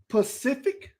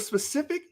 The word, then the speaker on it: specific: a slang term but when you say pacific instead of specific that's remedial [ __